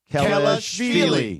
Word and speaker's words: Kelashvili: Sandro Mamu First of all, you got the Kelashvili. first name wrong. The first name's wrong now. Oh. Sandro Yeah. Mamu Kelashvili.